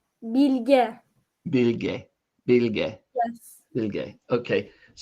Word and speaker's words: Bilge: word pronounced? Bilge.